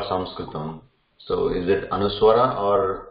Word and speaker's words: Sanskritam: So that means there is an element of a short a when we say Sanskritam.